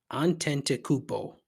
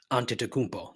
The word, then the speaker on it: Antetokounmpo: Antetokounmpo. I'm saying it wrong. Giannis Antetokounmpo. There it is.